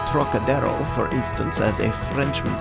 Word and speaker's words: Trocadero: That peculiar throaty aspirate the Frenchman gives to the first syllable, as though it were spelled Terroc, is utterly beyond the Chinese, and beyond the American too, whose idea of the tonsillar aspirate leads him to speak of the trochidero, naturally falling back upon